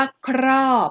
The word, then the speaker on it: ครอบ: ครอบ ครอบ นะ คะ เรา ออก เสียง ว่า ครอบ เอ้อ ใช่ ไหม คะ ครอบ เรา ไม่ อ่าน ค่ะ รอบ ไม่ ใช่ ไหม คะ เรา ไม่ อ่าน ค่ะ รอบ เป็น 2 พญา แล้ว อ่าน ครอบ เป็น พยางค์ เดียว นะ คะ พยัญชนะ ต้น